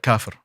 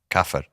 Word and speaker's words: kafir: Kafir. Kafir.